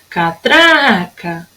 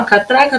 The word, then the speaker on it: catraca: Catraca. Epa, gente, catraca. Tem o som mais forte aqui, ó, no tra.